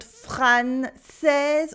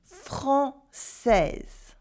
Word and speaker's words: française: And that it is française and not française or française or whatever. It is française.